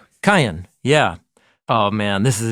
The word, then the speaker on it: Qayin: That's how you say his name in Hebrew. Cain. Cain, yeah.